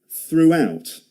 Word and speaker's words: throughout: See the W sound in the middle of that? Throughout.